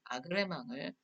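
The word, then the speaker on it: agrément: 어그리먼트에 브로직 발음, 아그레망을 요청합니다.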